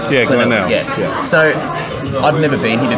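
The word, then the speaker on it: Glenelg: here this morning, I've never been, do they pronounce it Glenel? Yeah, Glenel.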